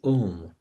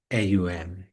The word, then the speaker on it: Om: And from this subtle sound vibration arose the syllable Om, composed of three sounds. Om, greatly potent and self-illuminous. Omkar exhibits the original sounds of the alphabet, AUM.